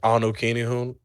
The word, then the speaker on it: Anu Kinihun: I mean, it's Anu Kinihun. Again, it's Anu Kinihun. It's spelled ANUKINIHUN.